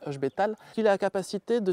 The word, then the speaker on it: Ech Betail: un personnage qui nomme h betal le i se prononce pas donc c'est h betal il a la capacité